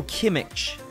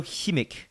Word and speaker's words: Kimmich: Đây là cách đọc bên Anh nhưng mà ấy, Joshua Kimmich đã từng lên phát biểu ấy và chia sẻ cách đọc tên của mình ấy, và nếu như mọi người không biết ấy thì hình như bạn ấy đọc là Joshua Kimmich.